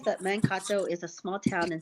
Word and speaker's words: Mankato: I've been saying it wrong. It's Mankato. Okay.